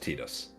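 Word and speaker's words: Tidus: For some reason his name is pronounced Tetus. Yeah, who cares? I don't care. Titus. Titus. That's how I say it. Not Titus.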